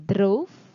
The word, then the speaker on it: drove: Lalu kata yang mirip pengucapannya dengan no, itu ada o, itu kata road. Ya, menulis. Road. Lalu ada kata drove, mengemudi. Drove. Dan ada kata road. Ya, road. Jadi kata road, drove, road itu mirip dengan kata no.